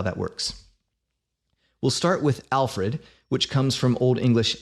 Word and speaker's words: Alfred: In this word, the stress lands on the first syllable, alf.